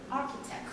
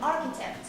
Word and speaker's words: architect: CH is pronounced as K. Architect. Repeat after me. Architect.